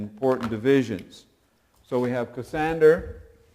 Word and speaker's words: Cassander: important people and important divisions so we have cassander c a SS a n d e r